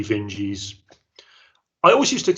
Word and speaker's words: Vinge: Vinge, but I've heard a lot of people saying Werner Vinge, so that's where I'm going with it. I had the same experience. It's through watching YouTube videos that I picked up. Oh, they pronounce his name or her name Vinge.